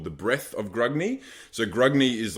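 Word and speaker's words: Grungni: So the first thing to kick off is the wrath of, is it Grunni? I've heard it pronounced a few ways, but it's Grugni. So basically, my Caradron force is dubbed the Wrath of Grugni.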